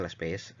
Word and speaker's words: Laspeyres: Oke, bacanya Las Pays.